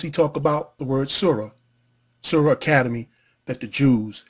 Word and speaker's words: surah: and arabic excuse me basically arabic it's surah you hear the h breath because surah in the quran is spelled s-u-r-a-h not s-u-r it's pronounced different has